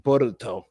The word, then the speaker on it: Boruto: It's Bolt, but in the Japanese dialect it's pronounced Boruto.